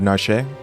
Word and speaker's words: Narshe: get her out of narshe I think it's narsh like well but the E maybe the E is silent it's like a marsh but whatever that